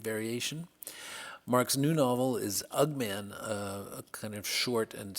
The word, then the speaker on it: UG-Man: It's called UG-Man or Ugman. Ugman is how I pronounce it.